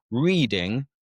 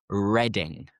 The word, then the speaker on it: Reading: I am reading a book. But the city is actually pronounced like the color.